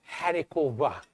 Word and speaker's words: haricots verts: Or it's spelled haricots verts, but haricot vert.